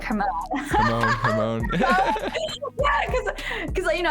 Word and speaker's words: Hermione: And I'm like, oh, so like I didn't know Hermione's name was pronounced Hermione for like until the movie came out, and I was like, oh.